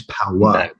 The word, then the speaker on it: Powa: It's powa, P-O-W-A. Because when Americans hear a British accent, the A sounds like an R.